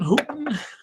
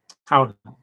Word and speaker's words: Houghton: This box is from Houghton Hooten. Let me see. Mifflin Harcourt. How to pronounce Houghton. Oh, whatever. Houghton Mifflin. Oh, okay, Houghton Mifflin.